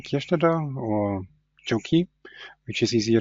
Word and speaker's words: Kirstätter: My name is Kestada or Joi which is easier to pronounce for English as well as French speaking um developers.